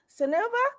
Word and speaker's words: Seneva: Is it Seneva? Yes. You are pronouncing it.